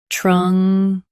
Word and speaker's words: truncate: Truncate. Stress Kate and keep trung soft.